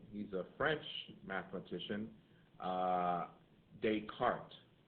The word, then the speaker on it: Descartes: a French mathematician uh Descartes Rene Descartes uh and you're like that doesn't sound like the last name yeah well it's French that's how they pronounce it however he contributed to